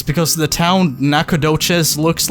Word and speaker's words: Nacogdoches: The saddle is how do I pronounce this? Wait, hold on. Okay, explain this to me, internet legend. Nacogdoches.